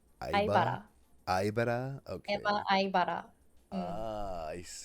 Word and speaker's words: Aibara: How do you pronounce the? You said Aiba, Aibara. Aibara.